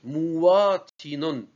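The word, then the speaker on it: مواطن: Parfois, on prononce wa, mou, wa, tinon. On assimile wa à mou. On dit mouatinon. Si on arrive à prononcer mouatinon, ça passe. C'est mieux de dire mouatinon.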